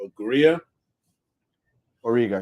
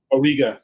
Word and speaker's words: Auriga: area of a of agria orega yeah auriga thank you I my pronunciation but